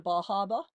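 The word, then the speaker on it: Bar Harbor: And when I left Acadia, I drove into Bahaba.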